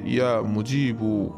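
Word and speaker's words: يا مجيب: তারপরে আপনারা ভিডিও স্ক্রিনের উপরে দেখতে পাচ্ছেন আল্লাহ রাব্বুল আলামিনের গুণবাচক সিফাতে একটি নাম, নামটির উচ্চারণ হচ্ছে ইয়া মুজিবু, ইয়া মুজিবু।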